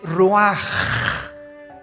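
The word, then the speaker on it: רוח: El ruaj que se escribe r u a c h ruach en el hebreo y se pronuncia igual ruaj.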